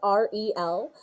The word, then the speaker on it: Arielle: My name is pronounced R-E-L.